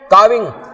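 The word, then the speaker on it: calving: क्रिया क्या कहलाती थी काविंग सी ए एल व आई एन जी L silent होता था वो काफ से जुड़ा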